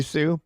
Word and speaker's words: Hsueh: Just switch the S and the H, and then like don't pronounce like 3 letters.